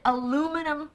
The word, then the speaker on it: aluminum: So we call it aluminum foil.